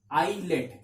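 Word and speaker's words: islets: आइलेट, इसमें एस साइलेंट होता है, इसको आइलेट्स पढ़ा जाता है।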